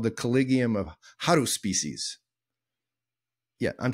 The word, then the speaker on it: Haruspices: They were called the Collegium of Haruspices. Yeah, I'm saying it right. Haruspices.